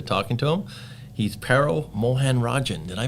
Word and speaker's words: Mohanarajan: He's Paro Mohanarajan. Did I pronounce that right?